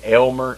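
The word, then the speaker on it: Aylmer: called Almer now it's they pronounce it Elmer and you think Elmer e l m e r but it's not it's Almer a l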